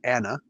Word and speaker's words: Ana: and his sister Anna so not say Tana just Anna okay I see what they're